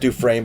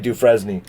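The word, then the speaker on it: Dufresne: it was d-u-f-r-e-s-m-e right but it's pronoun it's pronounced due frame but it's french so it looks like do fresney if i was in prison with access to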